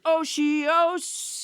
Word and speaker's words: otiose: Last week's word was otiose. It sounds a bit like Oreos, but it's not.